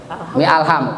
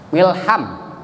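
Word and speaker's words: الحمد: Kalau ada harkat, kalau ada ha alif, kalau ada alif kejepit oleh kalimat lain, berarti alifnya itu hilang. Hilangkan alifnya, hilangkan, jangan mi alham. Milham.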